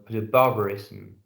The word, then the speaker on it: barbarism: You have to really pronounce those with with a schwa vowel, little schwa vowel. I mean, a sound between the two consonants. Barbarism. Really pronounce the S and the M.